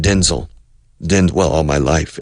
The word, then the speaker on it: Denzel: of his name is Denzel the stress is on the second syllable but I'm not sure Denzel Washington all my life I've said Denzil then well all my